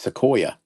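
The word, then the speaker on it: Sequoyah: Whatever the s e q u o y a h I don't know how to pronounce that's not oh it's sequoia right it just looked different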